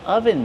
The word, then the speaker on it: oven: Ah, I'm wearing an oven mitt. This is an oven mitt. How do we pronounce oven mitt? Oven. Use the closed sound like up and cut.